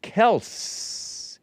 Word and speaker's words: Kelce: big bump just know for yourself right but Kel's father perg big bump was too weak to correct people on the pronunciation of their last name it's actually pronounced Kel k e LSS and not Kell hyphen C